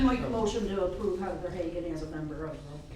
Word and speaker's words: Heather Hagan: Then we can discuss the candidates who, the Wyoming County candidate is, I think I'm pronouncing this correctly, Heather Hagan?